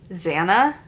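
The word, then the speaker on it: Xanna: names written by okay X is supposed to be pronounced as a z right so Zanna Eve Chow wow names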